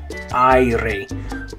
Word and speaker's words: aire: So aire, aire, aire. Okay, that one's a little hard because the A and the I sound kind of mixed together. The ah and the E. I. So it's not just a straight ah like the A will make in other words, but e, I, aire.